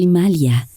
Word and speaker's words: Himalaya: también quería decir rápidamente tú y yo estamos diciendo himalayas porque es el bueno correcta para aquellos de ustedes que aún no se han iniciado en la pronunciación sánscrita de las cosas la gente lo llama el Himalaya por supuesto pero en la India se dice el imalia del mismo modo que